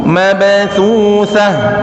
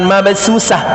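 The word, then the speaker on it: مبثوثة: Wa zarabiyyu mabthutsah ya. Wa zarabiyyu bukan mabsusah, tapi mabthutsah. Fa-nya diperjelas Pak.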